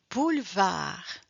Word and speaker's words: boulevard: Boulevard on ne prononce pas le e. We do not pronounce de E.